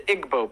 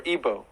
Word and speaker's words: Igbo: in Nigeria you have the Igbo people or Igbo pronounced either way 40 million remember if